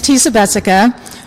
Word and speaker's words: Tisa Jessica: i love this because you put it at rhymes with imagine everyone who did that we were pronouncing our names correctly so thank you very much my name is teesa bessica you wanted my address